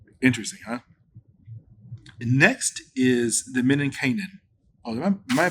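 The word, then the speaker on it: menninkäinen: Next is the Men and Kanan. Oh, am I pronouncing that right again? Uh, Men and Kynan.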